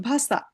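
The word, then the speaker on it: Wasser: তাহলে ডব এটা যার মানে ভে বলে যেমন ভাষা।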